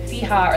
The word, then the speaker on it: FIJA: We actually pronounce it FIJA, by the way.